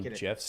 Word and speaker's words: GIF: do you call it do you call them gifs too just to bother people you're the jif